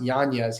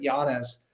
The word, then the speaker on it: Yanez: and it's funny because his last name's actually pronounced Yanez. He came out on Twitter and just said that recently because everyone's always said it Yanez, but Adrian Yanez is